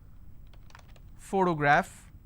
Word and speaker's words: photograph: I have the word photograph again I have first sound so just because I have the letter P doesn't mean I can pronounce this as per always alright I also gave